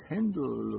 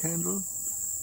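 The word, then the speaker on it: Handel: focus on is uh gor Friedrich hendle or George Frederick handle maybe pronounced in the English way uh of course we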